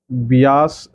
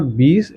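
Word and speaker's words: Beas: Alright, सो Pong dam जो है बियास river के ऊपर है। इट्स नॉट बीस, इट्स बियास, काफ़ी लोग इसको मिस प्रोनाउंस करते हैं, इट्स बियास रिवर।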